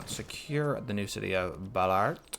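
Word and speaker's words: Ballarat: the new city of Ballard Ballard Bella rat I think that's the better pronunciation first thing these guys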